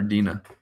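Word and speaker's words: Denna: Do you pronounce it Dana or Dina? Is it Dana? Dana. Or you do neither of what I said. You do Dana. Okay. Anyways, so I'll say Dana.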